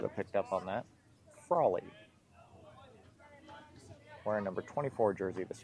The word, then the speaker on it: Frawley: Frawley corrected on the pronunciation. Should have picked up on that. Frawley.